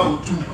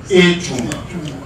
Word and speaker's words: Echumba: C'est pas Ochumba. Echumba. La France prononce Ochumba.